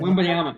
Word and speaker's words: Wembanyama: Wembanyama. Yeah, like you said, just say it fast. Wembanyama. Yeah, Wembanyama. Wembanyama. Yeah, if you say it fast, you get it. That Victor guy's Wembanyama.